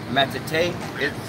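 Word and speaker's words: מטאטא: This is how to pronounce it. Matete. Matete means broom.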